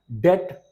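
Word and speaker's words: debt: से पहले आता है डेट subtle डाउट डेटर नटेड okay यहां पर आपने देखा बी साइलेंट है बी का कोई साउंड नहीं है सी साउंड में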